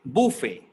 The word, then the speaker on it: buffet: as we like so it is pronounced as buffet not buffet it is bit weird but you is giving like ooh sound so it's buffet buffet it is pronounced as